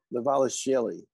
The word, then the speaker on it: Dvalishvili: Dvalishvili.